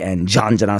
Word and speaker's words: Jhanjran: British Asian music director, and his latest release is called Jhanjran, to pronounce it correctly, spelled Jhanjran, Jhanjran.